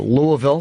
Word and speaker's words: Louisville: week yes next week I'm in Kentucky uh Louisville like the locals say and uh then I'm doing my theater